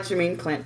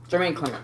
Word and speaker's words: Jermaine Clement: animated Disney film sure whatever I did like Jermaine Clint Jermaine Clint whatever the you say his name I love his voice CL Jermaine Clement thank you I like his voice work and